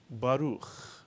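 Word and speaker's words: ברוך: Ba is the first syllable. Ruch is the second syllable. Baruch, mitsuyan.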